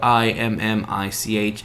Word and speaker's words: Immich: But I looked into this application called Immich, which is funny the way it's spelled, I-M-M-I-C-H, Immich.